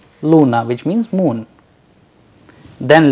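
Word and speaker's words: луна: pill russian word we have used here is luna luna which means moon then letter care as in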